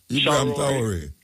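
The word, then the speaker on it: Ibrahim Traoré: Do you pronounce his name Ibrahim for me, please? Traore. Ibrahim Traore.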